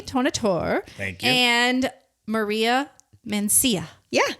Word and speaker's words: Mancia: And Maria Mancia. Yeah. Did I say it right? Mancia. Mancia. Yes. Yep. Mancia.